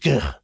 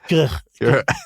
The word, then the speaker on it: Gwrych: And it was in pronounced Grich. How do you say it? Grich. I'll say. Well, like the Scottish Loch.